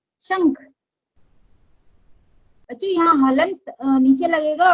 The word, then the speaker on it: शंख: तो यहाँ पे क वर्ग का प्रोनाउंसिएशन है तो इसका प्रोनाउंस क वर्ग का पंचमाक्षर है, इसलिए उसका प्रोनाउंसिएशन उंग होता है, शंख गंगा।